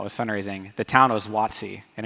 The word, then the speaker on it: Watsi: fundraising the town was wattsy and it's in the southeast part of Costa Rica it spelled ua TSI phonetically some people spell it wat si but no one could